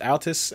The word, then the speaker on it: Altis: I think that's how you pronounce it, Altis, A-L-T-I-S.